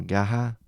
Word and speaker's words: Garra: Marcos Bae and Garra, or Gaha, because in Brazil they tend to pronounce their R's as H.